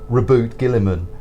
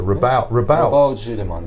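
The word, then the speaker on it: Roboute Guilliman: So I'm afraid I read that name for the 13th Primarch as Reboot Gilliman, and I hated it. Your alternate pronunciations are probably better. Rabout Gilliman.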